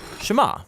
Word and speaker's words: Shema: is hear or listen which in hebrew is pronounced Shema that's where the prayer gets its name now